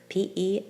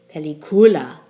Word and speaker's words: película: the next word p-e-l-i-c-u-l-a it's a rule one word because it ends in a vowel so the stress should fall on the second to last syllable which would leave us saying pelicula but that's not what we say we say pelicula so the accent Mark needs to be written in to get pelicula next word i-n-g-l-e-s it